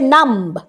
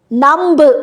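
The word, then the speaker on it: numb: নেক্সটটা হচ্ছে নাম্ব, নাম্ব বলি না কিন্তু, নাম, মতেই শেষ হয়ে যাচ্ছে।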